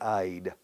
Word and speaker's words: I'd: But for Spanish speakers, los hispanohablantes, it's extremely difficult. For me, I think it's impossible for a Spanish speaker who starts English after puberty, cuando la boca ya está formada dentro de una fonética, to say I'd, he'd, we'd, she'd, they'd, da, esta, de, tan, duda, que no sale en español.